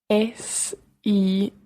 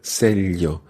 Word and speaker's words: sello: A stamp is un sello. Un sello. Exacto. Cara, can you tell me how sello would be written? S-E-L-L-O. Exactly. It's got a double L sound in there. Sello.